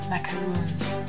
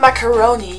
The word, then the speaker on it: macaroon: What I really seriously dislike about France though are macaroons. First of all, no one can pronounce it. It's macaroon. It's not macaroni, you freaking working class idiot.